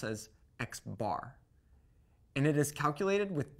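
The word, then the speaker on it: x̄: You will commonly see the mean of the data set notated like this, which we pronounce as x bar.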